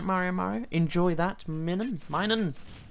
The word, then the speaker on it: Minun: Minun. Minun and Plusl. That makes sense, right? Yeah, that's how you pronounce their names.